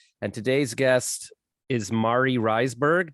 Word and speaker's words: Reisberg: today's guest is mari reisberg did i pronounce that right close is my last name oh man because you